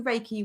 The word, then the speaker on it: Reiki: It is Reiki. You got it spot on. So I do Reiki with my clients, but as I've adapted the